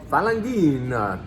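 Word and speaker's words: Falanghina: All right, this is going to be Falangina. Make sure you pronounce that correctly or you will be in trouble with HR.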